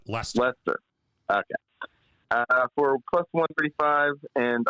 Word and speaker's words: Leicester: I can never pronounce that right. Leicester. Yep, Leicester.